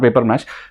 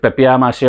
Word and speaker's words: papier-mâché: papier-mâché or paper mache, you can simply read a paper mache, but it's not paper mache, with papier-mâché or something, the pronunciation, proper one.